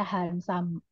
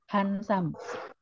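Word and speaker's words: ハンサム: Dan biasanya di huruf terakhir dia akan menjadi U. Makanya Hansam. Hansam. Des. Bukan desu, tapi des. Apalagi ya yang belakangnya U.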